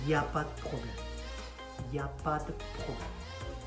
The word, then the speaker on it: il n'y a pas de: Il n'y a pas de problème. Basically, you kind of swallow the letter E in de.